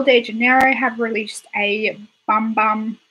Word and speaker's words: Bum Bum: janeiro have released a bum bum I know it's pronounced I know you supposed to pronounce of boom-boom but I love saying bum bum bum bum want soul